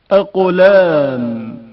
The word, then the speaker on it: اقلام: اقلام قاف کی آواز شدت کے ساتھ ادا ہوتی ہے اور اچانک منقطع ہو جاتی ہے.